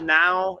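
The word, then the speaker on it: Nau: Now is spelled N-A-U.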